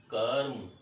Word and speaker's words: क्रम: तो हम देखें अब देखिए दोनों का उच्चारण, इसका उच्चारण क्रम और इसका उच्चारण कर्म। क्रम कर्म, यहाँ क आधा था, यहाँ क पूरा है। कर्म, यहाँ क के साथ हमें स्वर की आवाज सुनाई दे रही है, सुनाई पड़ रही है की आवाज, जबकि यहाँ क